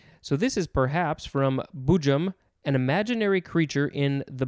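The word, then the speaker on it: boojum: melodic variations next is i think it's pronounced bujum or bujum b-o-o-j-u-m it is a noun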